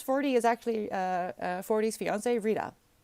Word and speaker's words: Rita: Oh, it's pronounced Rita.